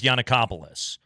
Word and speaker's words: Giannakopoulos: I think it's Giannakopoulos.